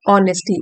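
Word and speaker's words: honesty: And rebuilt his life on ऑनेस्टी, H silent है यहाँ पे, ऑनेस्टी, रीबिल्ट दोबारा से बनाई अपनी जिंदगी, ऑनेस्टी ईमानदारी के ऊपर।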